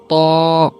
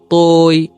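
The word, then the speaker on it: ط: আমি আবারও বলছি ত। হ্যাঁ, ত উচ্চারণ করতে অনেকে ভুল করে থাকে, যেটা অনেক আগে মক্তবে শেখানো হতো তই, এটা ভুল উচ্চারণ। মূল উচ্চারণ হবে ত।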